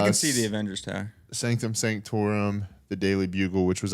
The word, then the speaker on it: Sanctum Sanctorum: yeah, I don't think I can't really see the Sanctorium, Sanctorum, but I think yeah, it's called. Sanctum Sanctorum.